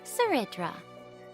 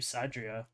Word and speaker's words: Cerydra: Seridra, that's how you pronounce it. I'm just going to keep calling you Sadria.